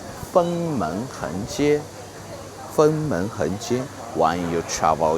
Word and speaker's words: Fengmen Hengjie: The first thing you must to memorize the pronunciation. Fengmen Hengjie Fengmen Hengjie.